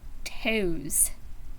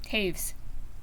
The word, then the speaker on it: Toews: Not Peace by Miam Toes or Toes. Yeah, Taves. That's right. Taves rhymes with waves.